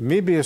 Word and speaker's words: Möbius: The Möbius strip is a funny thing.